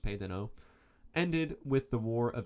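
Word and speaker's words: pays d'en haut: deno which is french spelled it's spelled phonetically as pais den haute but it's pronounced pedano ended with the war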